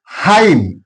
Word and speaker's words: hymn: Hymn, N is silent here.